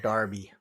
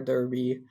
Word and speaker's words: Derby: that wait a minute is it Derby or Darby so it is Derby spelled with an E although everywhere I heard it pronounced both Darby or Derby either one uh I'm gonna find it I heard I gotta find I heard both of them yeah it just must be like a dialect like somebody from